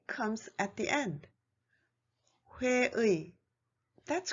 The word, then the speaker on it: 회의: Number 2, the vowel 의 is pronounced as 이, except for the first syllable of a word.